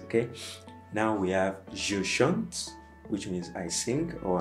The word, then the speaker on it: chante: Il chante. Okay, so this chante has the same pronunciation as the first person singular. Okay, chante. You don't say chantant, no. Say chante, il chante, elle chante.